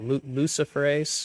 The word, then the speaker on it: luciferase: do you say it luciferase yes Lucifer like the devil Lucifer yes it makes sense